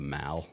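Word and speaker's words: Mall: Mal which is that pond pronounced the Mal a lot of people call it the Maul um the local guy says it's Mal right yeah it's Mal it's Mal my parents said it's the Mal so it's the um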